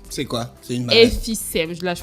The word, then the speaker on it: emphysème: Alors, donc, la plus connue des maladies pulmonaires chroniques est l'hémicème, en fait. C'est quoi? C'est une maladie. Emphysème, là je prononce bien.